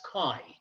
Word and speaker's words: chi: square it is written as chai but it's pronounced as chi chi squared and this is going to be x